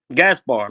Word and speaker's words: Gaspard: so how do you how do you pronounce your name gasar like to me to